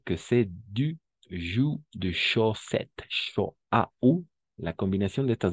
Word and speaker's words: chaussette: Ah, y la combinación de vocales O y U siempre va a ser U para nosotros.